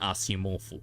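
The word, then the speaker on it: Asimov: They kept calling him Asimofu, so I'll do the same. It's the canon pronunciation.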